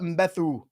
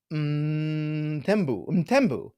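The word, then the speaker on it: Mthembu: Monty, Sabelo Mbethu, Puka, Mixon, Ty Chandler. Puka. All right. He says, the pronunciation is silent on the H. Okay. So, Mtembu. Sabelo Mtembu. Yes?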